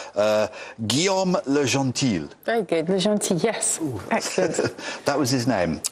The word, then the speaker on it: Guillaume Le Gentil: Susie you'll tell me if I get his pronunciation correct uh Gom lean very good lean yes excellent that was his